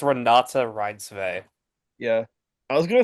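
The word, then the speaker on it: Renate Reinsve: Renee Reinsfeld, right? That's her. That's how you Run, pronounce it. I think it's Renata Reinsve.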